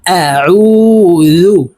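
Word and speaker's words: أَعُوذُ: আউ এভাবে বলে থাকি আউ আইনকে চাপ দিয়ে উচ্চারণ করতে হবে আইন ওয়াও পেশ উজাল পেশ জুজু কুল আউজু আপনারা আমার সঙ্গে বলুন কুল আউজু বা জের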